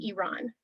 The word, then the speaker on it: Iran: is to acknowledge that the way to pronounce the name of the country is actually iran um the other thing